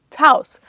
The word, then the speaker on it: Taos: Taos.